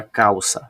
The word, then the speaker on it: calça: E agora eu vou circular a sílaba tônica da palavra calça. Veja que quando eu falo a palavra calça, o cal é dito com mais força.